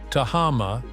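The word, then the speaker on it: Tehama: Tahama, pronounced Taha, combines golf elegance and natural beauty, nestled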